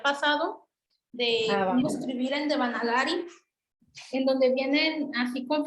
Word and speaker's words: Devanagari: ¿Sí es Devanagari o es Devnagari? Es que Devnagari creo que es en hindi. A veces suelen quitarle la A.